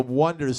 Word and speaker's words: The Wonders: point, but they were called The Wonders, spelled with O-N-E. Right, and he's like, it fucks with everyone's head. It's Yeah, called, yeah. they think it's the Oneaters. You're The going to the Oneaters.